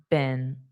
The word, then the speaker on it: been: And then this in North America is pronounced as been, in, and then just put a B. Been.